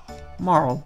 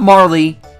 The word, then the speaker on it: Marle: oh by the way my name is Mauro not Marley I don't know who pronounces it Marley but it's moral I'm Mauro and you're